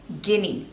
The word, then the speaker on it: Guinea: This one is Guinea. 2 syllables.